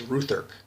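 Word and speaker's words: Rutherk: Duvalier my name is Ruth urk it's pronounced ru th ER k do not mispronounce my name you do not need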